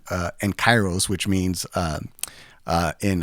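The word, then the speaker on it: καιρός: and we came about the name uh en chyros which means um uh in I think it's like in perfect time or in season or timing along those lines uh so the actual Greek word is chyros and I feel like I have to do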